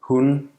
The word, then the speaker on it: hun: It's phonemic, and its presence can distinguish words that otherwise sound the same. For example, hun, meaning she versus hun, meaning dog, hun, hun.